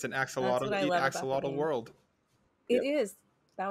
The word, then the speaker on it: Ak-Xolotl: on kickstarter starting tomorrow it's a really difficult name to pronounce but it's axolotl and it was an